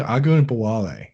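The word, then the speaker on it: Ogunbowale: I'm not even going to bother pronouncing his last name against the Patriots or Jarrell Patterson against the Eagles. It's Agun Bawale.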